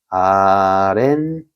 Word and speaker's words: 아랫니: 플러스 니 되어 있는데 여기에 어 보면은 뒷말의 첫 소리가 니은미음 앞에서 뒷말의 첫 소리가 이렇게 니은미음 앞에니까 여기가 어렛 15 들어가는 거죠. 그래서 발음은 아렌니 이렇게 되겠죠.